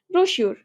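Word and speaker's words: brochure: ব্রশিউর এটা তো রিসেন্ট আসছে খুব রিসেন্ট ব্রশিউর এটার উচ্চারণ কি ব্রশিউর ছোট বই বুঝাইতে ব্রশিউর বলা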